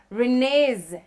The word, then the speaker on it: Renez: course she goes by renee's denise music you got an a to pronouncing my name renee's yes it is most people don't get it right you know different pronunciations renee's